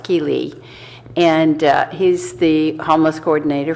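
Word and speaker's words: Ky Le: his name is difficult it's K-Y and then Le but pronounced Keeley and he's the homeless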